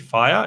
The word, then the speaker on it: Fyre: It's spelled FYRE, Fire.